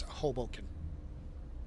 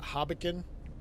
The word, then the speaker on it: Hoboken: It's Hoboken. Not Hoboken, not Hoboken, Hoboken.